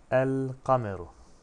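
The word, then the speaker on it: القمر: El kameru. Kamer ay demek. Şöyle burada resimler var zaten. Kameri harfi olduğu için kaf yani. Bu durumda ne olur? Lam okunur. El kameru. Lam okundu.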